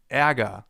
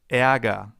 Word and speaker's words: Ärger: Ä, as in Ärger, the German term for anger. And anger actually contains a sound that comes pretty close. Anger, Ä. Ärger, Ä. Not the same sound but fairly close. Ärger.